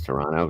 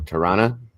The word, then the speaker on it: Toronto: So Toronto, that's how Canadians pronounce Toronto. Toronto.